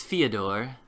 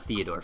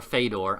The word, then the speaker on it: Fyodor: My name is Fyodor, and I am not Theodore, Fyodor. I didn't pronounce that very well. Fyodor. Or Fedor, I don't actually care. He's like, Fyodor. As long as it's not Fodor.